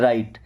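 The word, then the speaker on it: right: देखिए यहां पर जी और एच साइलेंट है। राइट राइट का मतलब होता है सही।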